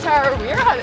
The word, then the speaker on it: Tarawera: I got Tarawera, that's how you say it.